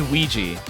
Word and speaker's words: Ouija: It's pronounced Ouija. Oh, like the board.